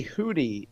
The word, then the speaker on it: Houthi: to flag this for Agnes, when you say Hootie, it's spelled differently than Hootie and the Blowfish, right?